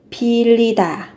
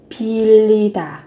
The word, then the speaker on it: 빌리다: Thì khi mà phát âm thì các bạn sẽ đọc giống như là âm l. Pilita, pilita.